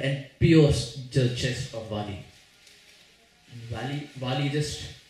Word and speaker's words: Vali: And the arrow went and pierced the chest of Vali. Vali just, I was about to say Valley. Valley. That's like the American pronunciation, Valley.